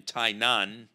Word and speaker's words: Tainan: of the island in tainan which sounds a little bit like the name of the country but it doesn't sound like taipei taipei's i said tainan